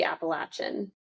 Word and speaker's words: Appalachian: First thing I learned when I got out here was that I was mispronouncing Appalachian but it should be Appalachin.